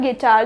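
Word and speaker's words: guitar: कोई सा भी वल आ जाए तो यू साइलेंट होगा जैसे कि गिटार क्या हो जाएगा गिटार जो वुवल साउंड है उसका साउंड प्रोड्यूस होगा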